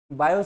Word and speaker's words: Biot: दिया था है ना स्पेलिंग में बीई ओटी आता है बट हम इसको पनस कैसा करते हैं बायो करते हैं ठीक है है ना